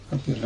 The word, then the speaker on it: капере: Капере, может быть, да. Ударение на последний слог.